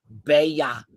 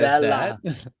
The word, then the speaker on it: Bella: And she goes, oh, well, the L's are pronounced with a Y in Spanish. So actually it's Bella. And you said Bella.